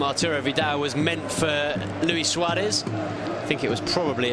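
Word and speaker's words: Luis Suárez: Luis Suarez, rather, in the Uruguayan pronunciation, heading back across goal, off target on that occasion.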